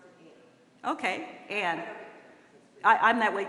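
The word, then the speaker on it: Ayn: Although I was named after technically a tightened-up conservative thought, but my parents were civil rights workers, and they've always pronounced it Ann.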